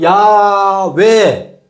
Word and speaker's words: 야훼: 이것의 원형적인 발음은 야훼가 맞다라는 게 다수설이에요, 지금은. 그러니까 여호와로 발음해야 된다는 일군의 의견이 있고 야훼로 발음하는 게 맞다. 왜? 야훼가 여기 봐라, 전부 야로 발음했지 않느냐. 이사야, 에레미야, 무슨 엘리야, 전부 야로 끝나지 않느냐.